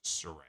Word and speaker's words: Saraya: tonight that the proper way to say her name is Soraya it's not Soraya it is Surrey it came to the